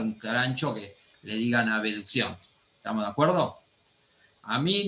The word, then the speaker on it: abducción: En un examen no digan abducción porque está mal, se dice abducción, pronuncien la B, no le digan abducción, eso es de regla mnemotécnica.